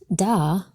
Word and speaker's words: Dal: : It just so happens, that the fourth letter of the Hebrew alphabet, Dal, was represented by a door in its earliest form. Pronounced "dah", this letter is the modern